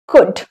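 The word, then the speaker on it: could: कुड, बहुत से लोग कुल्ड बोलते हैं, नो, कुड। एल आपका साइलेंट।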